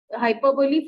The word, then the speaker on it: hyperbole: Hyperbole, first example.